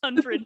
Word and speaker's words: Hunfrid: And Like Humphrey, but Hunfred.